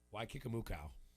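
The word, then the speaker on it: Waikikamukau: uh number six is it looks like a hawaiian island name but it's pronounced wai kikamukau why kikamu okay it's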